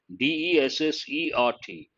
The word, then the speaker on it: dessert: use the spelling changes d-e-s-s-e-r-t and how do you pronounce that dessert so there are two words one is desert full of sand the thar the sahara